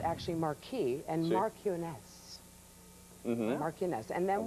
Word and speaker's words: marquis: then the is it a marquee or a marquis and a mar cu cu some people some people pronounce it different way well it's called actually Marquee and marones maress and then we have the